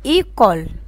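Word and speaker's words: école: كلمة إيكول، إيكول يعني مدرسة في أول الكلمة. فيرمي، فيرمي يعني مقفل، جات في آخر الكلمة كده اتحول معايا النطق للإي، فيرمي.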